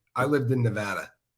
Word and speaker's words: Nevada: a long time I it's not Nevada and people in that state get pissed off about it and I promise you if you say it wrong in that state people are going to correct you it's just one of those things that everybody corrects people on in what's wrong with